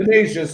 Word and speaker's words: Canisius: was, against a school called, I think it's pronounced Canisius. Canisius, I think. Canisius, thank you.